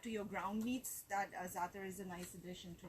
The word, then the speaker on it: za'atar: It's actually called za'atar. It's a Middle Eastern mix. It gives a really nice tangy flavor to the you know, different dishes. Can you spell that, please? Z-A-A-T-A-R.